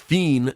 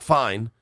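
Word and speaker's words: Fien: Gavin Feen, I believe it's pronounced Feen, not Fine, is now the number 5 prospect in the Nats system.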